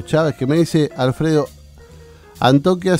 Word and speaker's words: Antioquia: que me dice Alfredo Antioquia se pronuncia sin no es antioquía es sin acento me dice parece que